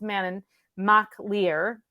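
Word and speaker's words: Manannán mac Lir: to I have to write it mananan it's Manon it's pronounced Manon ma leer and Ma leer means son of the of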